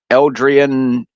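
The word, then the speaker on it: eldritch: how many people actually support the whole uh Eldrian or how do you say the you know the the Cthulhu type horror stuff yeah Eldrich yeah there's a lot of people who actually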